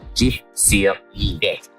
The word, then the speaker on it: Gif-sur-Yvette: Well, this is the little town of Gif-sur-Yvette, or if I can say it properly with my Australian accent, Gif-sur-Yvette.